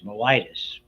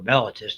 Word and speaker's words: mellitus: When we're going to look at diabetes, you and I call diabetes, which is appropriately named diabetes mellitus or mellitus, depending on who's pronouncing it, or sugar diabetes, anytime